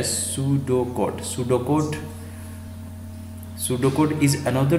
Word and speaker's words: pseudocode: Topic है वो अपना पेसुडोकोड। पेसुडोकोड क्या होता है, किस तरीके से इसको हम लिखते हैं। तो ए पेसुडोकोड इसका जो प्रोनाउंसिएशन है सूडोकोड।